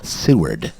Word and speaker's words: Seward: that homer or alaska is it what it's pronounced seward by the way sue with alaska that's funny